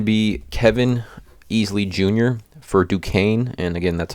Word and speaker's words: Duquesne: is going to be Kevin Easley Jr for Duquesne and again that's how you pronounce it Duquesne I like his over 11 and a half